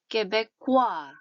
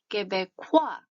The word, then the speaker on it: Québécois: Québécois, Québécois 이런 정도로 발음하시면 될 것 같은데요.